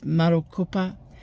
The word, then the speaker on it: Marokopa: So I know there's a place in America called Maricopa but this is Marcupa and it is in